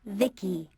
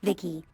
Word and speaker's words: Vici: transistors by the way i'm vici pronounced vicky my creator was vivi secto he's what you humans would call a healer or maybe a repair person yep i'm vici pronounced vicky came out here to